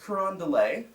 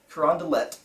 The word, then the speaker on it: Carondelet: burgundy the second not rondelay Carondelet got to pronounce the T at the end they read what they